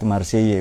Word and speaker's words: Marseille: mereka selang dari marcey marsheilla itu loh marseilles marcey bacanya ke pagi itu perjalanan